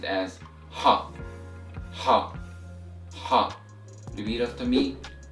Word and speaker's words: ح: Alright, so the sixth letter of Arabic is pronounced as Ha, Ha, Ha. Repeat after me, Ha, Ha, Ha. And the letter Ha doesn't particularly has an equivalent sound in English.